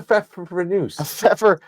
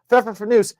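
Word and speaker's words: Pfeffernüsse: What's a Pfeffernuss? Pfeffernuss. How would you pronounce that?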